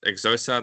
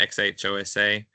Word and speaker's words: Xhosa: how to pronounce this, Xhosa, the X H O S A. It's got a click. I think it's got a click. It's um Uh Xhosa. Yeah, click click click.